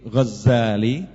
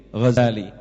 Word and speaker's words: Ghazali: bin Muhammad alghazali at-usi al-ghazali ini bacanya Bisa dua bisa dengan ee tasdid zaai jadi Ghazali bisa dengan tahfif Zain jadi Ghazali kalau Gazali artinya peminta kain tapi kalau Ghazali ringan itu nama suatu desa di tus ya suatu desa